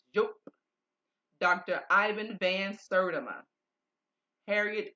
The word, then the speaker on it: Diop: Some might pronounce him Diop, but it's not. Joop.